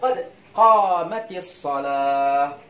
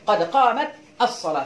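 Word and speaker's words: قد قامت الصلاة: Maka dihidupkanlah tak ini menjadi kasrah, jadi bacanya qad qamatis shalah. Tidak boleh qad qamat as-shalah, tidak bisa.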